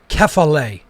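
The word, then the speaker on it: κεφαλή: So you pronounce that Kephale in Greek.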